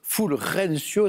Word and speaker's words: Fulgencio: Fulgencio, Fulrencio, si on voulait le prononcer de façon locale, Batista.